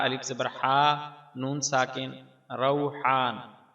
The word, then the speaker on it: روحان: ہا، نون ساکن، روحان۔ ہمارے ہاں یہ نام عام طور پر را کے پیش کے ساتھ روحان بولا جاتا ہے، جبکہ اس کا درست تلفظ را کے فتحہ یعنی زبر کے ساتھ ہے، روحان۔ یہ بات دارالفتاح جامعہ